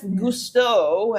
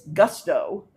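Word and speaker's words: Gusteau: Uh then is Anton Ego Chef Gustto and of course if you pronounce it less Frenchly it's Gusto.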